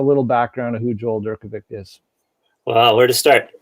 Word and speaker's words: Durkovic: pronounce your last name i pronounce it durkovic perfect yeah i don't think that's the original czech pronunciation but that's what we i think it's supposed to be pronounced durkovich or something like that but we do it